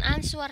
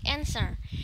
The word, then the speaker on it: answer: jadi answer itu jawab membacanya bukan answer tapi encer answer the question based